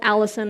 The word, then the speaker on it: allicin: the immune system and it's called allicin it's not spelled the same as the name but it sounds the same and that is lost